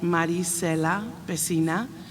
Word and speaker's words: Maricela Pesina: And just to clarify the record, my name is pronounced Maricela Pesina. So it's kind of like muddy waters, Maricela.